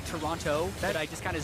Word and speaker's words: Toronto: All the options are open to them as they prepare to head to Toronto. I was told actually by a tweet, it's pronounced Toronto with no T.